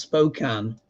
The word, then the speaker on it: Spokane: It's pronounced Spokane.